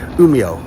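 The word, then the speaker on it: Umeå: takes 50 minutes to umia which is spelled u m e a but you pronounce the a like a o so it's like umia you see so um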